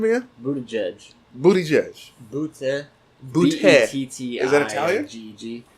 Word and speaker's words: Buttigieg: Pete Buttigieg. Dude, Pete Buttigieg is actually pretty smart, but he's Say his last name again? Buttigieg.